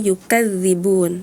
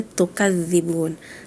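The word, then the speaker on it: يُكَذِّبُونَ: Dan di ayat 22 balil ladzina kafaru yukadzibun. Tadi Raka menyebutnya tukadzibun.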